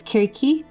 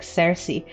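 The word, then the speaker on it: Circe: I think I was saying Kirke, which is still it's Kirki from the from Greece.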